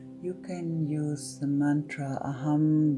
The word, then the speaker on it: Aham: during the meditation, you can use the mantra Aham Brahmasmi, It's spelled aham, A-H-A-M, aham, and Brahmasmi, B-R-A-H-M-A-S-M-I, aham Brahmasmi.